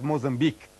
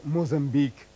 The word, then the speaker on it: Mozambique: and there was a Muslim governor of this area some 500 years ago whose name was Musa bin Baik. And when the Portuguese, when they conquered this territory, they could not pronounce Musa bin Baik, so they said Mozambique. They changed the name, they perverted the name to Mozambique, maybe unintentionally, but they perverted the name.